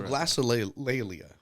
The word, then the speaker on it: glossolalia: So glossolalia.